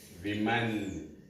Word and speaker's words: women: Woman becomes women. Women. See that? So this A becomes E, whereas the pronunciation is differing in this completely.